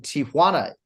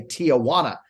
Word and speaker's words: Tijuana: When I started my UFC career, I was pronouncing Tijuana improperly. Thank God when Brandon Moreno finally broke through, I didn't say Tijuana, right? And it was Tijuana.